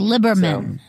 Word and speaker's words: Liberman: It's Liberman. Liberman. Yeah. You don't spell it that way.